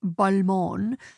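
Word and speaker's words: Balmain: Not the European brand pronounced Bulmon, rather a suburb in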